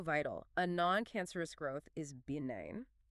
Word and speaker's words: benign: A non-cancerous growth is benign. It has this soft almost floating sound.